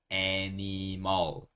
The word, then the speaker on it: animal: animal. 자, 어떻게 그런 소리가 나는지 볼게요. 여기 첫 번째 있는 A를 에 소리로 읽어주시면 되고요. N-I 이 부분을 ni 이렇게 읽어주시면 됩니다. 그 다음에 M-A-L mall, mall 이렇게 읽을 거예요.